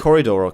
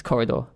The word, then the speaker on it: corridor: or digital you edit Corre Dora Corre Dora Corre adore its corridor 100% yeah I've been saying it wrong for about seven years ed cooled or digital